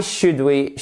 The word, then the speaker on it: should: Why should we hire you? Alors là, faites bien attention, vous avez le H. Et vous faites bien attention ici, le L ne se prononce pas.